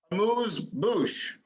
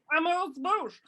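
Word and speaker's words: amuse-bouche: Like Americans say amusement, but amuse. Amuse Bouche. Amuse Bouche.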